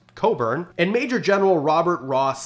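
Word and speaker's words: Cockburn: rear Admiral George Coburn spelled like this but pronounced Coburn and Major General Robert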